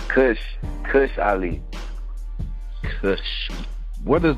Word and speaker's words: Cvsh: say your name all right so yeah it's cush cush I leave what does that word come